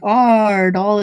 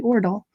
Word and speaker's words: Aardal: So Karl, for example, whose last name is Aardal, is still pronounced as if it was A with circle over it. Yeah, Aardal. So even though it looks like Aardal, it's actually Aardal.